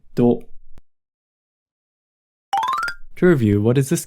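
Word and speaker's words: ど: To with the dakden is pronounced do.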